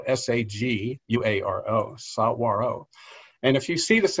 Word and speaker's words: saguaro: that's what's known as the saguaro cactus and that's spelled s-a-g-u-a-r-o sauro and if you see this in film if